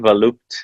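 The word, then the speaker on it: Volupté: accent on volupte because in French, when you use cap letters, you can avoid using accent, but nobody's pronouncing it correctly. So Okay, I'm going to say Volupte. volupte. Volupte. Yes. All right, Volupte.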